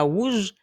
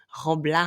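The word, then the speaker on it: wouj: swag quoi d'autre Guadeloupe on va utiliser le W puisquon arrondit la bouche d'accord rouge c'est en cas dit rougea rouge là aussi j'arrondi la bouche je ne devis pas dire roa rouge ça pas possible mettez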